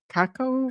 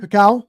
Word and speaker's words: cacao: Um, I don't know how to pronounce it. Cakaco. Cacao.